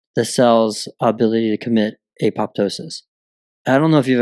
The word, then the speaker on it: apoptosis: A lot of people will also pronounce it as atosis. Yeah. So the P is silent. Yeah. Maybe it. I don't know. I have always heard it that apoptosis.